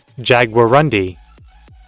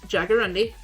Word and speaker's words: jaguarundi: bunk'd there we go jaguarundi yeah I said it right that's loud I'm so sorry I didn't realize it'd be that loud Jagger Rundy yep jaggerundy that's how it's pronounced yeah I'm so sorry